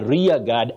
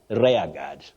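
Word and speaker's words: rearguard: word many people innocently say R God R God no you say r r God a rear guard action not RAR God and then if you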